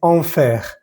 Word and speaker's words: enfer: Hay que pronunciar bien la E y la R.